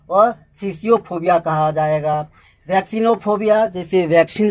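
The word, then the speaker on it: phthisiophobia: Next है थीसियोफोबिया। Guys यहाँ पी H silent है, टी एच आई एस आई ओ पी एच ओ बी आई ए, थीसियोफोबिया जिसे tuberculosis यानी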